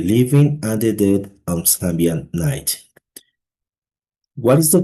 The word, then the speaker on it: Samhain: Okay, thousands of years ago the Celts celebrated Samhain, pronounced it Sow-in.